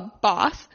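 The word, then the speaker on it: Bawse: So number 1, How to Be a Boss by Lily Singh. The reason I took a pause before boss is because it is spelled B-A-W-S-E.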